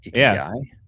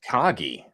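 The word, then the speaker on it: Ikigai: Icky guy. I thought it was IGI. IGI. It is not. It's icky guy apparently.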